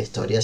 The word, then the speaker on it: historia: Entonces agarro la palabra historia con, si bien arranca con h la palabra historia, si bien se escribe al principio con h, el sonido que yo emito cuando digo historia es muy par es la i, es igual a la i.